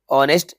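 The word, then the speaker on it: honest: पर N fill करेंगे ऑनेस्ट H silent है एन फिल होगा ठीक है यह मोस्ट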